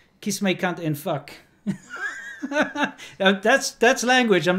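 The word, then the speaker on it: vak: You know, okay, let me, you know, in Afrikaans, subject is V-A-K, okay? V-A-K, vac. No, but it's pronounced fuck. Fuck.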